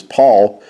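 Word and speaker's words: PAVL: Now notice how Paul is spelled here. It's P-A-V-L, and that's because the V and the U carried the U sound, and the V actually was a new sound that came into our language.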